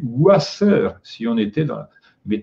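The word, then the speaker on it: Wasser: relations aussi sauf que on dit Vasseur en allemand on prononce V qui est le la graphie du U antérieur donc on devrait prononcer ouasseur si on était dans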